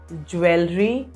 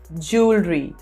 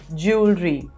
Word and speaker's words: jewelry: these two words here it's not jewelry it's jewelry jewelry and this word here